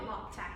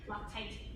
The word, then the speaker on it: Loctite: I'm calling it Loctac. I don't care if it's spelled Loctite. Loctite.